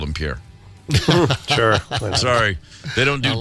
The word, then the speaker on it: Pierre: oh in Versa well that's like the capital of South Dakota no one's calling it Pierre it's spelled Pierre it is Pierre it was named after a French explorer Pierre but in South Dakota it's Pier it is Pier is it yeah don't you dare throw an extra syllable in there don't you air oh